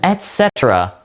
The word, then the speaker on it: etc.: This word originated from Latin where the word at means and. And that is why we see the T in this word. So just remember that etc is how you say it with an e T.